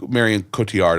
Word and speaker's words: Marion Cotillard: know how to say her name mall okay Marion Cotillard I think is how you say her name